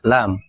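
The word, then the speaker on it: لام: ya tapi KF kecil bunyi lam ini kayak huruf L dalam bahasa Indonesia ya la li lu 24 ada huruf kayak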